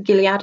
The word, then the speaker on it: Gilead: following around, I think it's the Gilead. I haven't watched the actual programme, so my mum told me that's how it's pronounced because she loves the programme.